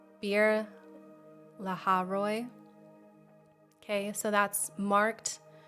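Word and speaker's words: Beer-lahai-roi: Um it's Beer- lahai-roi.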